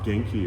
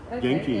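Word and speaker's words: 元気: part of their culture like the word um genki is health and and that's g e ki there it's two Japanese characters geni genki yeah and so genkes is how are you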